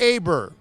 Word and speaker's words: Aber: how are you doing my man is it pronounced aber it is well I appreciate that a lot